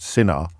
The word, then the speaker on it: Sinha: to bear in mind his surname is Sinha, so spelled Sinha but pronounced Sinha, and his autobiography is called No, sorry, I've messed it up after that big build-up.